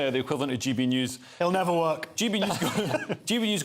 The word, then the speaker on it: NEOS: the equivalent of GB news it'll never work GB news goes out in the real Telly so uh news but it's spelled NEOS but it's new yes yeah that's the correct frustration an analyst that Anders